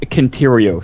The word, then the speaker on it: Centurio: Elite marks defeated in new areas surrounding Ishgard will yield Centurio seals. Oh boy! It's actually pronounced Conterio seals.